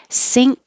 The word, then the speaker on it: sync: Sync, whether it's spelled this way with the YNC, which means at the same time, or sink, like the kitchen sink, sound exactly the same.